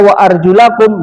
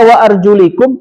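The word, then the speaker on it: وأرجلكم: Dua cara bacanya itu. Kalau dibaca wa arjulakum jadi basuh. Kalau dibaca wa arjulikum jadi usap ke kepala itu gara-gara teks.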